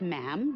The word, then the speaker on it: ma'am: For instance, when you're addressing the Queen, she is Her Majesty, and after that, it's just ma'am, rhymes with jam, and it's always a curtsy, especially in public.